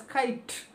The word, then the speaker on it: kite: just call it as kite our pronunciation stops at t kite we do not make the sound of e anywhere we do not call